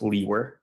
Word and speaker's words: Liewer: my last name is spelled Liewer, and it's pronounced Leewer.